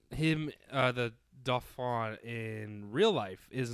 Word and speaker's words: Dauphin: The Dauphin, is it Dauphin or Faune? Dauphin. Dauphin. I'm not French. It's spelled like dolphin almost, but without the L.